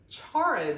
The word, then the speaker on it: charro: And then she also said some charro beans. So I think it's pronounced charro, C-H-A-R-R-O beans.